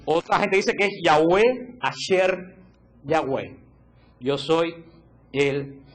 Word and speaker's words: Yahweh: En Israel no existe la palabra J, no existe. Entonces, descarten la palabra Jehová, porque ningún judío puede pronunciar la palabra Jehová. Así que esa palabra está totalmente descartada. Lo que más cercano que pudo haber llegado a sonar es Yahweh.